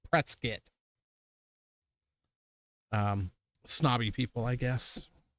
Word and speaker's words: Prescott: Prescott Arizona it's not Prescott it's presc is but if you listen to anybody up there it's web yeah Prescott it is spelled Prescott and they call it pretz skit um snobby people I